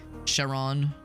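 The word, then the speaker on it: Charon: Sharon, that's how you pronounce it.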